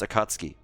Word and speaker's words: Akatsuki: right also another PSA here for the Germans that are listening here it's pronounced akatski go for the dub